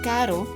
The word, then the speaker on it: caro: Either we pronounce it like R, like as in car in English and carro in Spanish, or like R, as in tap D or T in English, and caro in Spanish.